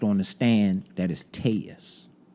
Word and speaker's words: Telles: mhm they called him that but he now pronounced on the stand that is taus not Tellis so Robert tus case essentially what he had